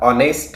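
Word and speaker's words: honest: For example, आता ऑनेस्ट हा शब्द आहे. आता ऑनेस्ट या शब्दाच्या समोर एच हे सायलेंट असल्यामुळे ऑ हा वॉवेल साऊंड आहे आणि वॉवेल साऊंडमुळे आपल्याला तिथं ॲन वापरावं लागतं.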